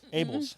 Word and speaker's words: Abels: Abels. Abels.